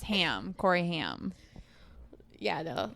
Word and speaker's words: Haim: Haim.